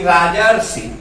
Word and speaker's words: राजर्षि: तो यहाँ जैसे हम कहते हैं कि राजर्षि, देखिए ये धीरे धीरे बोलिए, रा ज फिर र आता है, रा ज र फिर सी आता है, ठीक ना।